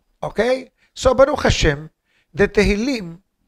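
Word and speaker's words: תהילים: In Israel, they say Tehillim, Tilim. In the Hasidic world, Sephardim pronounce Tehillim with a full sentence, with a full word. In the Hasidic, Medavzugen Tilim. That's how they say.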